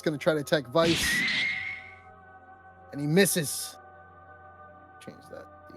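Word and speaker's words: Vyse: slider over here vice vice if you ever play Skies of Arcadia it's like Vice yeah I'm not good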